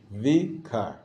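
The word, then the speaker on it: ויקר: The yud actually is silent. Well, yeah, that's because if it comes after a vowel, it just takes. It's a vowel. It's part of the vowel. It's part of the word V. V is the first syllable. Kar is the second syllable.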